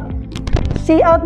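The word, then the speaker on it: cout: we have this one is pronounced as cl see out but uh this one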